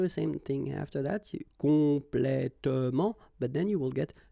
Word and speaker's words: complètement: talking about the adverbs, and the adverbs that will end with ement. Okay, in most of the cases, you don't pronounce this here.